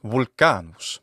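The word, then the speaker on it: Volcanus: and mythological connections therein in Latin vulcan's name is volan believe it or not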